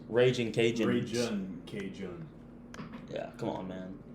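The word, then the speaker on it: Ragin' Cajuns: It's pronounced Raging Cajun.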